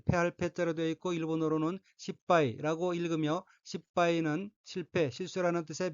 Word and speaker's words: 失敗: 셋째 줄 오른편 첫 번째 어휘는 한자가 한국어로 실패이고 각기 이를 실, 패할 패자로 되어 있고 일본어로는 십바이라고 읽으며 십바이는 실패, 실수라는 뜻의 명사 또는 수로 자동사이고 동의어로서는 식구지리, 실패, 실수, 실책이 있습니다.